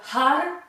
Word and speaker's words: Har: Prononcez bien le H et essayez de rouler les R en faisant, en tapant la langue sur le palais.